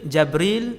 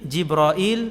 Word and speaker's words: Jibril: Malaikat Jibril jawab, ana Jibril. Jibril, Jabril, Jibrail, Jibrail. 4 cara baca. Semua sahih.